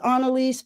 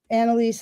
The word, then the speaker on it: Anelise: Um, well, my mom says Anaise, but people just say Anelise, Anaise, you know, as the as the spirit moves them, and that's totally fine with me.